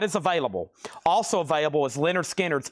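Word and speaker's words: Lynyrd Skynyrd: Also available is Leonard Skard's pronounced Leonard Skard.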